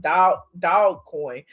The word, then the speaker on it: Dogecoin: day because my dogecoin i think you pronounce it dogecoin some people pronounce it dog dog coin but his dogecoin uh